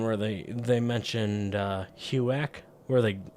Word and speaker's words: HUAC: uh huak where they they absolutely butchered it because they're British they don't know they don't actually know it's it's the house on American Activities Committee that's why it's called HUAC not whatever the